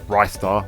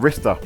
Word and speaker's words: Ristar: well I say restart others say it's rystar like Rising Star even Rista was offered by one dean mortlock of Sega power it's a debate that